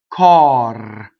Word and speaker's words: cor: Cor. So notice when we said core, the R was surrounded by vowels, so we flip it.